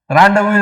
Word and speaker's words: rendezvous: Rendezvous is a French word which is written with extra syllables. French mein, they write extra syllables and almost every third letter is silent.